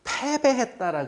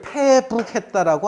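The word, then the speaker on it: 敗北: 우리 전쟁에서 지면은 전쟁에 져서 패배했다라 그러잖아요. 그럼 패배할 때 어떻게 적느냐면 이렇게 적어요. 전쟁에 진 거를. 그래 패할 패자에 등질배 달아날 배라고 읽어야 돼요. 이거를 북이라 패북했다라고 안 해요. 패배했다 그래요.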